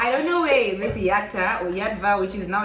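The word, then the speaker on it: Yatva: Yadva, you want technically the way Yadva is spelled, you're not supposed to say the V. You're supposed to say Yata.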